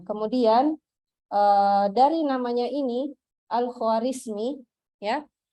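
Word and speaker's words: Al-Khwarizmi: ini Al Khawarizmi ya Nah kalau orang Barat itu membaca nama Al Khawarizmi ini seakan-akan Dia membacanya begini algoritsum gitu algoritsum Al Khawarizmi kan orang barat tidak terlalu tahu bahasa Arab toh jadi cara baca namanya itu alfarizmi jadi algoritsum nah sehingga dari kata algoritsum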